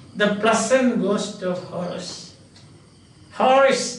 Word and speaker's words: Horace: Horace, that is the pronunciation, but some people pronounce it as a Horace. Horace, this is the pronunciation, Horace. You can look up the dictionary and see. But some people pronounce it as Horace.